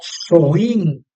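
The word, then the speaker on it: Samhain: Que se pronuncia algo así como soín, ¿no?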